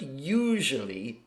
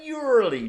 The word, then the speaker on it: usually: Now, the word usually is one of the most mispronounced words in English. Many Chinese students will say usually, I usually chat.